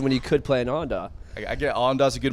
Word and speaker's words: Awendaw: You ever been to Awendaw? No. No. Awendaw, South Carolina. It's like Awendaw? Awendaw. How do you spell that?